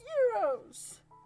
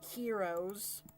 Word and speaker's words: gyros: hear him now saying that's not how you pronounce it it's euros or some people say heroes i'm just like the meat in the pita